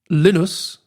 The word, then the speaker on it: Linus: Linus, I made sure to say it right.